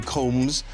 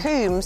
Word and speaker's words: Combs: It's spelt Combs, as in a comb through your hair. It should be pronounced, if it was in Ireland, it would be Combs. But here, the young folks say, what, Isabel? I thought Coombs, so I checked with